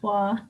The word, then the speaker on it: Waugh: Let's go with Patrick Waugh here. All right. Gotta pronounce the name right. It's not Roy. It's Wah. Patrick Waugh.